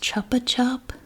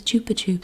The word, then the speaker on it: Chupa Chups: and they sold these I always thought it was pronounced Chupa chup I didn't know I never heard it pronounced I thought it was Chopper chop but Catalina said it was Chupa tube so that changed everything I now say jupitup because